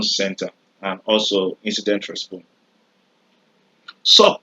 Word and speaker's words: SOC: and also incident respon sock like the short form says is pronounced sock s so which means